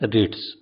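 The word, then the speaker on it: REIT: estate investment trust या आरई आईटी जिसका उच्चारण है रिट्स यह वे कंपनियां है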